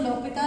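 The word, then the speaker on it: L'Hôpital: Famous है that is एल हॉस्पिटल rule, ठीक है, जिसको लॉपिता रूल बोलते हैं, एक्चुअली एच साइलेंट होता है, तो हम कोई भी मेथड आपका लगा सकते हैं।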